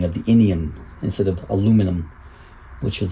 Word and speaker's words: aluminium: As the name implies, the owl part is aluminum or aluminium if you pronounce it that way. Fun fact, uh the scientist who discovered aluminum named it aluminum, English scientist.